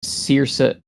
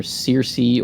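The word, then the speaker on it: Circe: Um Cersa Cersa or Cersi or Kirka depending on your your particular preference pronunciation style um is is one of the Odyssey characters.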